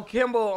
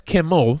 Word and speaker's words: Kimmel: Oh, Kimball on the Kimball show. No, that's Kimmel for one thing. So you wrong on both ends.